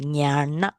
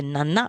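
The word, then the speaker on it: ñāṇa: So pronounce it nyana. Nyana. Okay. So you pronounce a nyana is wrong. You pronounce a nana is also wrong. So it's pronounced a nya. You have to stress the long A because it's a long vowel.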